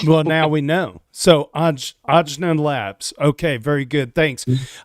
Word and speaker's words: Ajna: Yes, we are Ajna Labs, and we are building the Ajna Protocol. It's AJNA. In retrospect, we would have named it something different. Well, now we know. So, Ajna Labs.